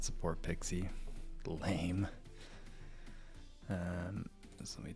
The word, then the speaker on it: PKCE: It's actually said that you can pronounce it Pixie. So, everyone in the security in industry, you know, all of us in the know, we call it Pixie.